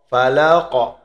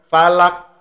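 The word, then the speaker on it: فلق: khusus di huruf Qalqalah huruf qof falaqo falaqo gitu ya jangan falaak bacanya kalau Falak ya bisa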